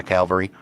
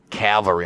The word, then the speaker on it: cavalry: Cavalry. I've been trying to pronounce that. Cavalry. Cavalry. Cavalry. Cavalry. Where I had left my cavalry. Cavalry. Nope. Still got cavalry. Still got the L in there.